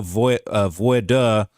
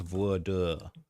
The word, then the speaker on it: voir dire: Said also to offset prejudice, the court will use a voir dire. Let me make sure I'm saying that right. Pronounce voir dire. Voir dire. That's how it's pronounced.